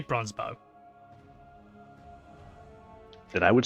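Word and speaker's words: Bronzebough: Bronzebow. Bronzebow? How it's pronounced?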